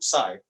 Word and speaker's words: psi: So इसे psi ऐसा pronounce किया जाता है.